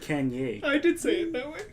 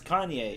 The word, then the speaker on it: Kanye: what is your here you said Kenya Kenya it's Kanye it's Kanye okay yeah we don't